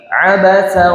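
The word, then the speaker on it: عبس: Surat Abas atau kita biasanya menyebutnya Abasa, padahal kalau baca yang tepat bahasa Arab itu disukunkan ya. Abas, kayak baca surat An-Nas gitu, kayak bukan surat An-Nasu gitu, tapi An-Nas. Nah, untuk cara baca surat Abas juga ya, Abas gitu, disukunkan.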